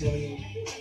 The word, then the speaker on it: Hillian: my real name, Hillian. Last name is spelled Hillian. If you can't spell Hill and Ian in one word, I don't know what to tell you. Just Lillian with an H.